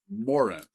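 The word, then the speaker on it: Moron: Now the first land is to the north and to the west and it's called the land of Morren and it's pronounced Morren.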